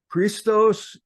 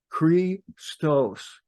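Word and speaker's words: Χριστός: Christos is correctly pronounced just as I did, Christos, in its original language.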